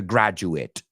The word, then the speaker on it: graduate: To graduate, and the person is a graduate. So if we had to rhyme them right now, graduate, hate, mate, fate, late.